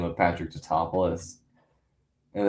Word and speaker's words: Tatopoulos: Niko top nicotapus. You know it's Tatopoulos which okay funny. Like I understand it's an in joke because it's like they couldn't pronounce the last name of Patrick Tatopoulos and it's just like okay but it's not